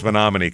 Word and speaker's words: Menomonie: And the Wisconsin people are incredibly impressed that we pronounce Monomin correctly.